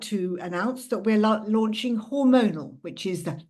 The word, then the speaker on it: Hormonall: And today, I'm very proud to announce that we're launching Hormonall, which is spelt hormonal with an extra L on the end, double L.